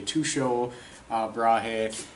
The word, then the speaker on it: Tycho Brahe: famous astronomers and there's different variations on how his name's pronounced I say Tycho Brahe has some say to show bra Hey I'll call Tico he